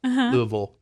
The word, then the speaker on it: Louisville: Louisville is how you say it. Louisville. Yeah, you have to act like your mouth is full.